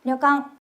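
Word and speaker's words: 旅館: 장음이 없어요. 짧게 읽어진다. 한번 해 볼게요. 려강.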